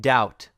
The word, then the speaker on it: doubt: you have to memorize like doubt subtle or debt where the B is completely silent and you pronounce the T instead and that is it